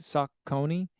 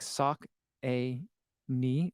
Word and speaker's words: Saucony: says like I've heard some people call Saucony sock Coney yeah Saucony um you know what's weird it's like it's uh went through a very like aggressively I mean they even did it uh on the Endorphin Elite unboxing like it's in the packaging it's like sock a knee like sock the sh stomach thing that goes on your foot uh and then knee like your patella area like to like let